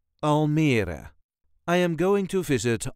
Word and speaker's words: Almere: This is the way us Dutchies say Almere. Almere. There is a light emphasis on the middle part. Almere. All the letters will be pronounced. Almere.